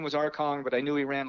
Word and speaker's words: Arcangues: It's Arcangues, and if you can get Arcang from that, then you're better than I am. And I didn't know his name was Arcong, but I knew he ran like King Kong.